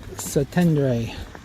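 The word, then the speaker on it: Szentendre: Zatendre. Zatendre. Weird spellings. SZ Z.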